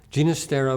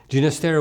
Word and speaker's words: Ginastera: the Hungarian folk culture genus Tara was born in Buenos Aires on April 11th 1916 his father been Catalan he preferred to pronounce his surname with a soft G early in his career